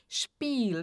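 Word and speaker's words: spielen: Então, novamente, ó, S antes de P são de X. Spel aqui o I e são de I mais longo.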